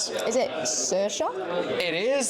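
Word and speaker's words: Saoirse: How would you pronounce this? Is it Cersa? It is Cersa.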